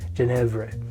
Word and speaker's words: Genièvre: We need 1 ounce of what people call is a Genièvre Syrup. The actual pronunciation of it should be Genièvre.